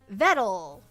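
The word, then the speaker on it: Vedal: Pronounced like metal or pedal. Vettle is a creator of Neurosama and evil.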